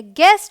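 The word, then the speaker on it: guest: चलिए अब देखिए हमारा रूल नंबर 2 क्या कहता है, अगर यू जी और किसी वाउल के बीच में हो तो यू साइलेंट होता है।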